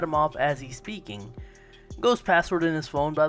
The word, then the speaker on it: Goh: Go's password in his phone, by the way, is 5555 because the Japanese number 5 is literally pronounced Go.